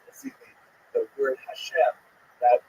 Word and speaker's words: Hashem: The word Hashem, of course, is pronounced with the letter H, but there is no letter H in the Russian alphabet.